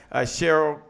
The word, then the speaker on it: Cheryl: Cheryl, like the singer Cheryl is how she pronounced it, says, Dr.